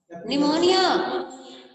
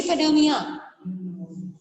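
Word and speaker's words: pneumonia: मैंने बताया था पी साइलेंट रहता है, क्या बोलते हैं? निमोनिया, बच्ची बोल रही पेनोमिया, पी बेटू साइलेंट रहता है, पेप्टिक अल्सर, ठीक है।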